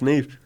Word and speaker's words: Niamh: Neve or Nev. That's it. It's Neve. Neve. Oh, I got it right.